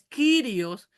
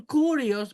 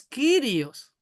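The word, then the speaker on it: Κύριος: Kyrios, Kyrios. Exactamente, mi querido Luchito. Es Kyrios, pero algunos dicen curios porque la Y parece una U, pero no es una U.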